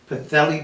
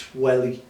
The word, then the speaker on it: Pwllheli: I got him in Pwllheli once. We call it Pwllheli. And when I asked the Welsh, well, it's in North Wales, they said, because it's PW, it's Pwllheli. Okay? So Pwllheli, that's Pwllheli.